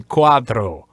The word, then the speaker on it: cuatro: Okay, so don't say trace, right? Or cuatro. Cuatro. Say cuatro. Okay. You can even say the English R, and that's fine, as long as you pronounce the vowels in a consistent, dry, single way.